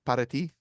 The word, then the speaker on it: para ti: This actually, if you want to know how to roll your R's in Spanish and you can't do it, say pot of tea really quick.